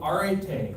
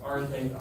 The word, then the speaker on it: arete: One of my favorite ideas is the Greek ideal of arete. I didn't say that right. Arete, A-R-E-T-E.